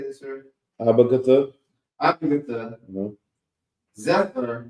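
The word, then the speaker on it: Abagtha: Abagatha.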